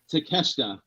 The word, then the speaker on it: Takeshita: Now we got Kenny Omega versus Takeshita.